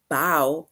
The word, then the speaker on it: bow: um sentence that is bow right this sentence bow or the word bow it rhymes with how right so basically that